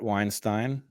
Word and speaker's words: Weinstein: on Twitter at Brett Weinstein Brett has one t and yes Robert you pronounced it correctly it is pronounced like the bagel brothers except with a w ow um and where